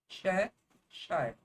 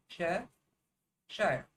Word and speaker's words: Cheshire: Cheshire. One S. I don't get it. The first syllable is CHE. Cheshire.